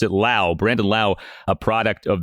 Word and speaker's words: Lowe: Josh Lowe, that's how you say his last name, Lowe. And then Brandon Lowe, you pronounce it Lowe.